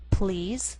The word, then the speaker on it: please: For example, please and police. The first is one syllable, and the PL blend together.